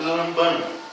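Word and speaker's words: λαμβάνω: Bem, aqui nós temos uma palavra grega no original, que poderíamos pronunciar como lambano. mais ou menos assim, a pronúncia desta palavra aqui neste versículo.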